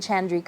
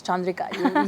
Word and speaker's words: Chandrika: like What's your name is it chandria I'm like no it's chandria you have to say it properly chandria RI you know